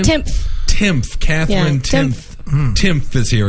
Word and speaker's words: Timpf: Timpf.